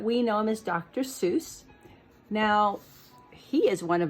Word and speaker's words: Seuss: And actually it's a German name, so it would be Dr. Seuss, like rhyming with voice, Seuss. But we know him as Dr. Seuss.